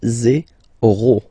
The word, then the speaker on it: zéro: Okay, so remember, you get this z and then e accent aigu, zéro.